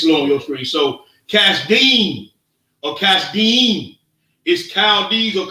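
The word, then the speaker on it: כשדים: Kasdim. Kasdim. So it's not pronounced Chaldees.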